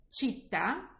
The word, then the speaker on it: città: But if the letter C is followed by the letters E and I, so E and I in Italian, then it will give me the sound ch, like chocolate.